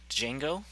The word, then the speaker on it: Django: see me go to django or is it just django cuz the D is silent and yeah I just